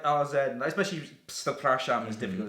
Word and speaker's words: Przepraszam: It's a PRZ. It's just like, because I remember we were saying to Christoph, like, "Oh, you don't pronounce the P." Oh, you do. It's just like, you do. Do you really? It's like Przepraszam.